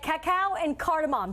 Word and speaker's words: Cacao & Cardamom: But Annie Rupani of here, we're right at Cacao and Cardamom. Did I pronounce that correctly?